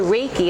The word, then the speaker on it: Reiki: key so Reiki so if you look at the word Reiki it's ray like the Sun key is the energy and so when you